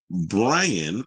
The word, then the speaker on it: Braian: So a judge has ordered Brian, and it's spelled Braian, Brian Nahuel Paez, remand in prison after charging him with supplying the singer with drugs a week ago.